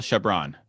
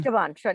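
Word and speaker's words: Chabon: No, I got Coulson Whitehead and Michael Shabbron. How do you say it? Shabbron. Shabban.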